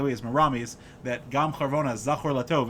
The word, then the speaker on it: Charvona: If you open up Megillas Esther, you will find a very interesting character named Charvona. Like we say in the song, the Gam Charvona Zachar Latov.